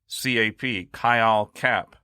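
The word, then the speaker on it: khyâl cap: spell it for you, it's K-H-Y-A-L-C-A-P, Kyle-Cap. It's also called wind attacks. No, Phil, not those kind of wind attacks. I see it in your face. You're about to say something. Oh, really? Kyle-Cap is a syndrome found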